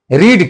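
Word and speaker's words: read: same होता है लेकिन उसका उच्चारण अलग होता है सेकंड फर्म और थर्ड फॉर्म का फर्स्ट फॉर्म होता है जैसे रीड तो उसका सेकंड और थर्ड थर्ड फॉम पढ़ेंगे रेड रेड है मतलब पढ़ेंगे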